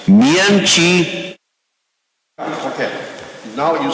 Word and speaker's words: 明奇: Mian Chi. Okay. Now you sound like a Taiwanese. When you pronounce it, it's more like a Chinese.